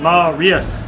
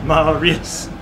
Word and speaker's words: Marius: Three syllables. Marius. Not Marius. Marius.